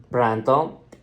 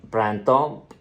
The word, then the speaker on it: printemps: And you have to listen very carefully when I'm speaking, when I'm pronouncing. Écoutez bien. D'accord. First one, printemps. Again, printemps, printemps, printemps.